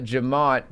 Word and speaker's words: Jemmott: And right now, we have Jemmott, who, did I pronounce that right?